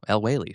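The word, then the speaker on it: El-Waylly: But you know, Sola Oh, El Wailly.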